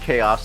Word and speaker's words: Kaos: you can find it on Netflix it's called chaos spelled k a o s not like how we normally spell it but chaos and it was absolutely fabulous